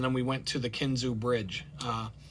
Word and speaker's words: Kinzua: We went into town, got ice, and then we went to the Kinzu Bridge. It's spelled Kinzua Bridge, but it's pronounced Kinzu.